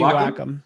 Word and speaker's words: Wacom: I never know how to pronounce it. I think it's Wacom. It's supposed to be Wacom.